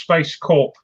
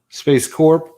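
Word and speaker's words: SpaceCorp: the printers of course i think it's pronounced space corp because it's space corporation rather than a core you know in an army sense space corp yeah corporation it's it's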